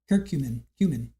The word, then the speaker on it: curcumin: Curcumin. Yeah. No, I know cumin. I got that, but you add the C-U-R in front of it.